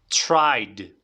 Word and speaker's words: tried: forma base try try forma pasada tried tiene que sonar esta d del final vale tried repite conmigo